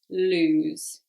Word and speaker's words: lose: lose loose and lose so different pronunciation as well one is longer than the other loose lose okay so loose means